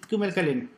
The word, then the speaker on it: kümelkalen: Que es la sexta vocal.